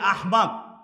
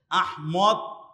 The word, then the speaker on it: আহমদ: মাহদী মাহাদীও না মাহদী এই যে আহমদ এই আহমদের চার ধরনের ভুলের রকম ফেরা আছে আহমদ আহম্মদ আহমেদ আহম্মেদ এই চার ধরনের ভুল আমাদের দেশের মানুষেরা করে মূলত সঠিক উচ্চারণ হচ্ছে আহমদ অনেকের নামের শেষে হোসেন